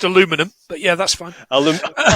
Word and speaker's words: aluminum: and originally made of aluminium, but changed to plastic. That's it. I think you'll find it's pronounced aluminum, but yeah, that's fine.